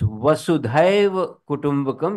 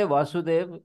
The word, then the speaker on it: Vasudhaiva Kutumbakam: It's Vasudhaiva Kutumbakam, because Vasudha is earth. And they all say Vasudev, who was actually Krishna's.